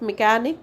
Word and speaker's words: mechanic: In case of mechanic, ch is pronounced as k.